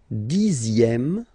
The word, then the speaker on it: dixième: Le dixième, so remember, even if you've got this X here, you pronounce it Z.